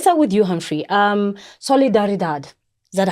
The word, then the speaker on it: Solidaridad: The word Solidaridad it's a Spanish name for solidarity. Because our work started in Latin America, hence the Spanish pronunciation.